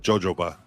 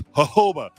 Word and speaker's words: jojoba: it's cute but she she calls it jojoba and uh he it's hoba and uh now if she doesn't say jojoba I get mad I'm like nope gotta say it right so she'll go